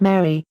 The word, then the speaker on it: mare: just as it sounds esoterically it is pronounced Mary the names of spots